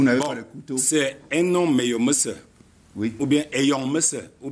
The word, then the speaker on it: Enoh Meyomesse: Bonsoir, Enomé Oumoussa. Bonsoir. Ah tiens, vous prononcez bien mon nom. C'est bien Enomé Oumoussa.